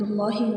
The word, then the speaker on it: اللہ: پڑھتے ہیں، اللہ اکبر، اللہ اکبر۔ اللہ، لفظ اللہ کو ہم نے موٹا پڑھنا ہے، اللہ اکبر۔ ثنا، سبحانک اللہم وبحمدک،